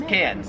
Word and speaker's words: Cairns: Karen's it wouldn't matter because the Australian accent just leaves the r off if it's ever in the last syllable of a word so you would pronounce